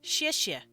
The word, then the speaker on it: 谢谢: As X-I-E, X-I-E. And we say 谢谢. That's how we pronounce this.